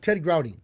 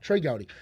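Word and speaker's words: Trey Gowdy: Here's here's We were interviewing uh uh Ted Growy. Ted Gouty or Gouty? Uh Trey Gouty. Trey Gouty. Trey Gouty.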